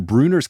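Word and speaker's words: Brunner: know the real Mr Bruner or like it's a friend of their moms or something like that that person spells it B Ru n n r but pronounces it Bruner I think this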